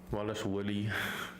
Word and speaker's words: Dvalishvili: Wallace Willie.